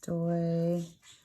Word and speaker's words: stoichiometry: And this word, you say it like this, stoichiometry.